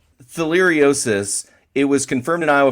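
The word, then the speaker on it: theileriosis: Let me make sure I'm pronouncing this correctly. It's theiosis. Correct. Theiriosis.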